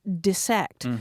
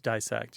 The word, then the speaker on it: dissect: was saying look it's it's got two s's in it it's pronounced dissect but that one has definitely flipped right so it's dissect you disect a frog dissect a